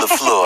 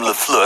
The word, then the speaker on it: LaFleur: We call him LaFleur on this show. We call him LaFleur.